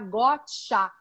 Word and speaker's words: Gottsha: que é Sandra, e vou colocar um H entre o S e o A, porque sonoramente vai ficar gotá, como ele tinha dado a princípio o nome em inglês.